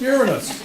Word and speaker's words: Uranus: body part is that close to okay it's pronounced Uranus tenderness so I want you to write on